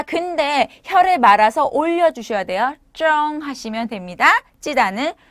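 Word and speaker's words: 蒸: 자, 쫑즈 기억해 주시면서 찌다는 쩡 하시면 됩니다.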